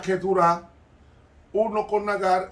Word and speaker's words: Keturah: Pero Abraham solamente tuvo un solo hijo según la promesa, porque él tuvo 8, 6 con Setura, que se pronuncia Keturah, uno con Nagar y otro con Isaac.